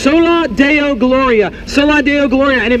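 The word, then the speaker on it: Soli Deo Gloria: a phrase, it's a Latin phrase, and it's pronounced sola Deo Gloria.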